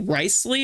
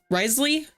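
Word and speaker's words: Wriothesley: think somebody said that his name is actually pronounced like rice Ley or something or Risley rley um his name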